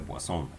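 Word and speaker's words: Poisson: son varios en 1837 aquí dice poison pero el detalle de que como este señor es de francia este apellido se pronuncia por acción trabajo en el límite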